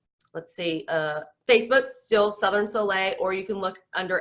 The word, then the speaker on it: Soleil: So Southern Sun, a lot of people don't know how to say it, but you will know how to say it. I didn't when we started, So Soleil. But Southern Soleil, and Instagram, that's my handle, just Southern Soleil.